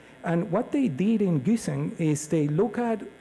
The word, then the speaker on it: Güssing: forgive my pronunciation, but I think it's pronounced Güssing properly.